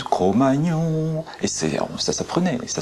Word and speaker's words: Cro-Magnon: Certains l'homme du Gros-Magnon, l'homme du Magnon. Alors on dit l'homme du Cro, l'homme du Ma, l'homme du Gnon, l'homme du Cro-Magnon.